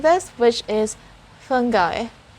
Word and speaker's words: fungi: i hear usually is fungi so you will hear the letter j sound instead of the letter g but there's also another way of pronouncing this which is fungi it's the sound of